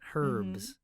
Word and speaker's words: herbs: yeah that's right yeah the H is silent herbs herbs she probably understood